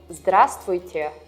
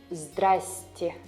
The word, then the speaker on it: здравствуйте: Sometimes instead of здравствуйте, you may hear здрасте or even здрасте. It's more like a slang word, and it happens because of reduction of vowels in syllables. We also discussed it in the previous video. So it's good to recognize this word, but when speaking Russian, it's still better to say здравствуйте.